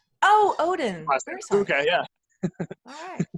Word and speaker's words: Odden: One quick thing, it's actually pronounced Odden. Oh, Odden.